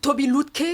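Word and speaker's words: Tobi Lütke: de Shopify qui s'appelle comment tu prononces d'ailleurs ? Toby Lutk Toby Lutke. LK hein LK oui voilà et bon il relance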